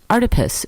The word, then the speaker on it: Artipoeus: Artipoeus, pronounced like octopus, because art is everywhere.